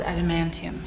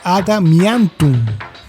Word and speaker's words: Adamantium: Pero en la versión española tiene un error en el doblaje, pues al tratar de nombrar en español Adamantium, tal y como se escribe, cometió un error y lo nombró Adamiantum.